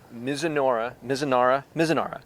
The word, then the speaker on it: Mizunara: And it's aged in, I can never pronounce it right, Mizunara.